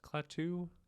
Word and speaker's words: Klaatu: So it's Klaatu, Barata, Nikto.